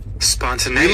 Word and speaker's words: spontaneity: to I get to look at how it's pronounced and what it even means. Spontaneity.